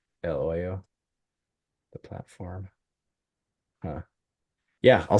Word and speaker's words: Hoyo: Hoyo. H is silent, right?